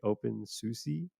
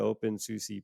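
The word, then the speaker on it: openSUSE: said oh the open I don't know how you pronounce this it's open s-u-s-e open Susie but but that uh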